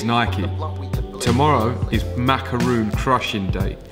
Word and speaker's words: Nike: Nike or Nike, depending on how you say it. Officially, it is Nike.